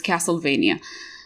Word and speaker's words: Castlevania: forgot to mention castlevania castlevania yeah because it should rhyme with transylvania so it's castlevania i love that show